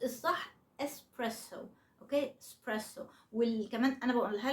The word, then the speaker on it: espresso: بس هو الاسم ايطالي فالنطق الايطالي الصح هو اسبريسو امريكانز يوروبيان وكده الناس اللي مش ايطاليين يعني ساعات بينطقها اكسبريسو على اساس ان هم